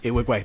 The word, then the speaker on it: Nwigwe: Oh, Toby Nwigwe. Yes. Nwigwe.